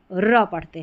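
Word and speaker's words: wrap: डब्ल्यू R pattern में W silent है। और वैसे याद रखिए जब भी आपको डब्ल्यू आर किसी भी इंग्लिश की स्पेलिंग में शुरुआत में लिखा हुआ नजर आ जाए तो आपको पढ़ देना है र। क्यों पढ़ते हैं? क्योंकि डब्ल्यू साइलेंट रहता है। इसलिए हम र पढ़ते हैं।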